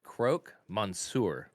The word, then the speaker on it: croque monsieur: can't even pronounce it it's crook like is it like something that robs you broke croak monsoor oh like a frog noise exactly it's like it's